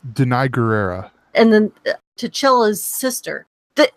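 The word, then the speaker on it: Danai Gurira: Between Angela Bassett, obviously Denaria, I always pronounce her name wrong, and I should get it right because I call her Michonne, but I do it, It's Denai Guerrera.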